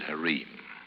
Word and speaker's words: harem: night in here though by the way they pronounce it hareem foolish of them but they do and a dreary a